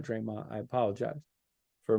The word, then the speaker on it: Draymond: green has proven time and time and again Draymond not Draymond I apologize for mispronouncing his first name Draymond Green it should